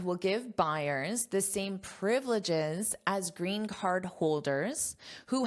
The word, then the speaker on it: privileges: Notice the pronunciation here, privileges. So, we have the syllable stress on the first syllable. Repeat after me, privileges. privileges This is the phonetic